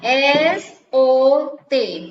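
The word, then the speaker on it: sot: So ya, S-O-T, bacanya so.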